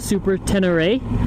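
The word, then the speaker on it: Super Ténéré: a yamaha 2012 yamaha super 10 array is how you pronounce it i believe most people just call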